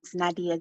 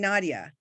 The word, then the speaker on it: Nadiyah: Wait, say it one more time, pronounce it one more time, because I was saying Nadiyah. Is it? Nadiyah. Okay. Yeah, like Aaliyah, it's Nadiyah.